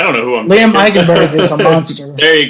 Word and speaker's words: Eichenberg: Okay, you'll have to help me on how to pronounce this. In Notre Dame, Liam Eichenberg. Eichenberg.